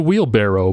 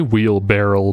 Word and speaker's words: wheelbarrow: me just check 100 it's a wheelbarrow but apparently some people say barrel i've never heard anyone say wheel barrel before but apparently that's a common mispronunciation my family is like